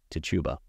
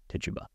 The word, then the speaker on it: Tituba: name Reverend Paris's own slave, a woman named Tituba. I've heard it pronounced all three ways, and there seems to be no rhyme or reason whatsoever. I will call her Tituba.